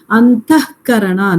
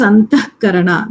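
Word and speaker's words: अन्तःकरण: If there you have antah karana, the way you pronounce it is antah karana. That visarga is cut and you pronounce it as antah karana.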